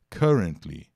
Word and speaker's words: currently: atualmente no momento tem só pronúncia currently tá o som do U ali não é de you né como você tem use